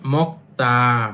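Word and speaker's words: 먹다: যেমন মক্তা। মক্তা অর্থ খাওয়া। এইযে গিউকের পরে যদি দিউ থাকে তখন সেটা উচ্চারণ করবেন ত এর মত।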